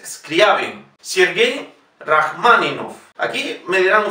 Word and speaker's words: Scriabin: Aquí no sé por qué motivo, pero en Radio Clásica dicen muchas veces Scriabin, es Scriabin.